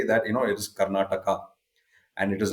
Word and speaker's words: Karnataka: come down where you going I'm going to karnatak okay but here I mean even the English spelling has that a at the and and we pronounce it we say that you know it is Karnataka and it is not keral it is Kerala